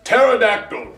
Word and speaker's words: pterodactyl: Possum starts with a P, and pterodactyl starts with a T. The P is silent.